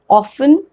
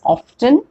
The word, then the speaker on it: often: before we move ahead just remember that often can also be pronounced as often and same way vale as valid both the pronunciations are right also in case of